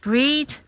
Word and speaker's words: Brigid: Brigid, after the Irish goddess Brigid, sometimes pronounced Breed, and she's the goddess associated with wisdom, poetry, healing, protection, and also blacksmithing and domesticated animals.